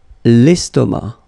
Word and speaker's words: estomac: L'estomac. Okay, same thing here, final C, not pronounced, and then M means that this word, estomac, is masculine.